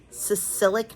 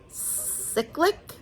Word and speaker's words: cyclic: explained the neutropenia thing I always call it sicilic neutropenia and I've been saying it wrong I think it's cyclic cyclic neutropenia anyway she was like